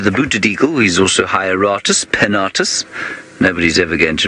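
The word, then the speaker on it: Hieraaetus: Hieratus. Hieratus wahlbergii is now his name, and he's got a similar name to the booted eagle. He's also Hieratus pennatus.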